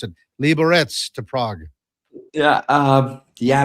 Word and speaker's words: Liberec: Why not go from Liberec, as iMac tells me how to pronounce it, Liberec to Prague?"